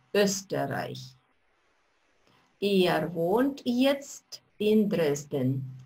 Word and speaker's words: Österreich: «Er kommt aus Österreich». Остановимся здесь. Вот эта буковка «О» умляут произносится как «Ö», «Ö», «Österreich».